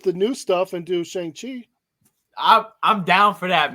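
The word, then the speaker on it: Shang-Chi: his name is shank shangchi okay yeah so it's like sean with a j it's like sean with a g at the end of it so shangji so all right so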